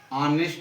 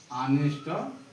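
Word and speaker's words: honest: ऑनेस्ट है और सुचारण हो रहा है। एच जो है साइलेंट है। तो यहां एन लगेगा। एच ओ एल इ एस टी ऑनेस्ट बॉ।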